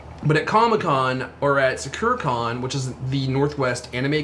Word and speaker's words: Sakura-Con: All the authentic anime cosplayers, they go Sakura-Con. Yeah, like we say Sakura-Con and they just go Sakura-Con. They put the emphasis on the wrong syllable.